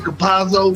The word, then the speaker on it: Campazzo: Campazzo, yes.